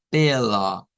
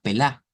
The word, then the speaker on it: pela: la mitad de pela, pela. Y notes el cambio en el acento. No es como que nosotros digamos pelá, es pela, pela.